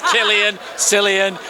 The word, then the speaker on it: Cillian: He's called, nobody knows how to pronounce his name, it's Cillian.